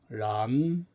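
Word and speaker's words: 染: 아, 발음은 란. 란. 요거는 이제 삼성으로 발음이 됩니다.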